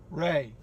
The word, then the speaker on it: Ray: Does it sound like I'm saying Greg? No. Ray? Ray. My name is Ray. Ray. Like Raymond.